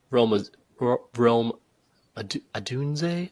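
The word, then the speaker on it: Rome Odunze: Probably like a Malik Neighbors or potentially, or even Rome Adunze, I think is how you say his last name.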